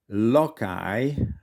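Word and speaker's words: lakáj: For instance, in the case of papagai, parrot, or lokai, lackey. These are both words of German origin. So here the y sound is spelled with a J.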